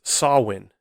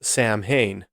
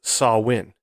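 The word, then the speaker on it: Samhain: pagan gelic holiday pronounced sawin now if you see the the word the way it's spelled phonetically the way it's spelled in English you would think it'd be pronounced Sam Hayne it's spelled s m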